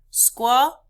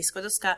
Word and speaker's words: Skłodowska: Skłodowska. Skłodowska. Skłodowska. Skłodowska. Gosh, I hope you guys remember this because in the video, every video that you watch about Marie Curie Skłodowska, they pronounce her name horribly.